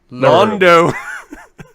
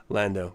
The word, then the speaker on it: Lando: him that we meet lon Lando Calrissian who Nando it's actually pronounced um Lando but okay whatever Lando Calrissian ah tell me